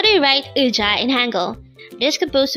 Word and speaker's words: 의자: So that's pronounced as ui.